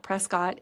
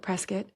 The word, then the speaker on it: Prescott: 20 minutes to Prescot Arizona and it is pronounced Prescot not Prescott anybody there will correct you if you say